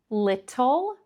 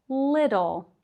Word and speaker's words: little: Little is pronounced little, little.